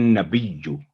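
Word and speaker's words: نَبِيُّ: تو یہ ہے ایوہن نبیو، بیجو یعنی یا کو با کے ساتھ ہٹ کریں گے فوری طور پہ، بیجو اس کی تشدید کی ادائیگی کے ساتھ، ایوہن نبیو.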